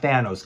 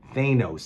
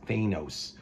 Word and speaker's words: Thanos: Thanos, by the way, not Thanos, guys. Thanos. That's the proper way of saying his name. Fucking MCU, these dumbass Marvel movies ruined it. It's actually pronounced Thanos.